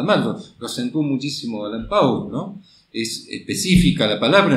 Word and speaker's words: Pauls: ¿Cómo se pronuncia tu nombre? Pauls. Ah, se pronuncia Pauls.